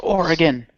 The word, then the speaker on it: Oregon: and directed and performed by Jeff blim it's pronounced Oregon I don't care I'm not of the West